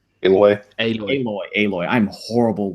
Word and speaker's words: Aloy: Uh, Aloy, is that is that how pronounced her name? Aloy.